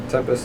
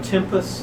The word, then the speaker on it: Tempus: in here I think one is like the Tempest TS Talos tempus oh tempus and Talos you said tempus I like said